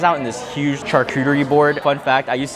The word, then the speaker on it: charcuterie: I got this right here, and it comes out in on this huge charcuterie board. Fun fact, I used to pronounce charcuterie charchetti.